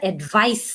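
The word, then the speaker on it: advice: আর যখন আমরা সি দিয়ে মানে নাউন ফর্মটা বলি তখন কিন্তু আমরা অ্যাডভাইস বলি, তখন সাউন্ড দিয়ে শেষ হয়। সো প্রোনাউন্সিয়েশনেও কিন্তু পার্থক্য আছে।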